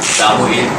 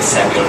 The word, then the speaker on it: Samuel: Well, it's German pronunciation would be Samuel T. But of course it's fine to say Samuel in international English or even.